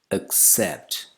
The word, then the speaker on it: accept: Now this is commonly mispronounced as əksept, but it's əksept.